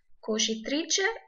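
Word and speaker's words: cucitrice: فالدباسة اسمها كوشيتريتشا اللي هي الدباسة. لو الكلمة نطقها صعب عليكم ممكن تقسموها زي ما أنا عملتها كوشيتريتشا.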